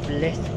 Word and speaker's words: Blythe: I think it's actually Blythe Road, the way as to how it's spelled. Because it has got an E at the end, so I think it's Blythe.